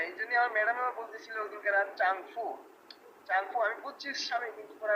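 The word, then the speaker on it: 丈夫: দেখি আমি বলে দিচ্ছি এটা চাও হবে না এটা হবে চাংফু চাং চাং ও চাংফু হ্যাঁ এইজন্য আমার ম্যাডাম বলতেছিল ওদিনকার চাংফু চাংফু আমি বুঝছিস আমি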